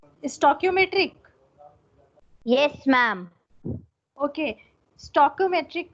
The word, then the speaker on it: stoichiometric: Ma'am ये जो STOICHIOMETRIC ये जो कुछ भी लिखा है इसका मतलब क्या होगा, इसकी प्रोनाउंसिएशन? स्टोक्योमेट्रिक।